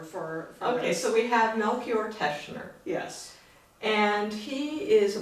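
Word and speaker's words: Melchior Teschner: um i'm like i said you're here to pronounce our our tune composer for okay so we have melchior teshner yes and he is a polish-born person 1584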